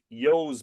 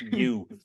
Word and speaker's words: ewe: So that's the first mention, and it's oi melig, yo's milk or ew's milk. The Hmm. U in Ireland, most farmers pronounce that EWE. Most Hmm. farmers in Ireland pronounce that yo.